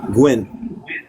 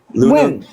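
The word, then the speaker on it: Nguyen: How do you pronounce N G U N Gwyn? Nuin Korean last name. Yeah, the South Korean last name. Win.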